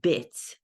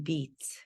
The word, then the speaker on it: bits: as their second language he meant to say bits b-i-t-s but because of his pronunciation due to his pronunciation it was sounding as if he was saying beats I have the same